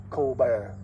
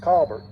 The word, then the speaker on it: Colbert: blank callbert was from france it was not colbert it's cobert in the article i was reading it had a pronunciation spelled out james cobert's name was k